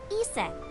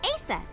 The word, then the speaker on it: Aset: But in ancient Egyptian, it's pronounced closer to Iset or Aset.